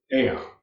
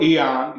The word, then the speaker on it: aeon: One of them is aeon, or eon, depending on how you choose to pronounce it.